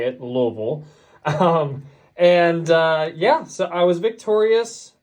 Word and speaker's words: Louisville: That's definitely how you say it, Louisville.